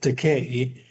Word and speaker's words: Takei: And this book, It Rhymes with Takei, is about that period